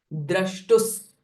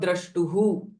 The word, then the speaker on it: द्रष्टुस्: the word sound sa, generally the visarga sound is ha, but it will change it to sa because the following syllable is sa. Drashtus, not drashtuhu.